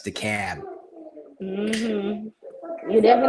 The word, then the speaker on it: DeKalb: I do want to give a shout out to my guys at the DeKalb Police Department. Those are my boys. They like me. Mm-hmm. DeKalb. I said it wrong. I forgot it's DeKalb.